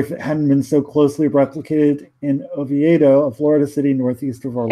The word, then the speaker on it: Oviedo: a funnier story feminine so closely replicated in Oviedo Florida City northeast of all is pronounced Oviedo Oviedo really yeah it's a diamond so stupidity just